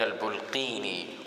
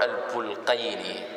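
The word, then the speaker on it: البلقيني: this field was Jalaluddin al-Bulqini, or al-Bulqayni, rahimahullah ta'ala. Al-Bulqini and al-Bulqayni. Okay, there's two ways to pronounce it.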